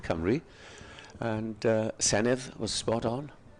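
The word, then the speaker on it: Cymru: had it spot on not camera as some people say in other pronunciations but Camry and sanit was spot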